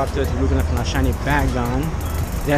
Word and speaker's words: Bagon: We're gonna go up there to look at our shiny Bagon.